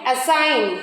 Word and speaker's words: assign: G is silent when it comes before the letter N.